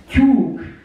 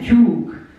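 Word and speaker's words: tyúk: Just in brackets, in Hungarian it's not really easy to do a rhyme with hen because it is kyuk in Hungarian, kyuk.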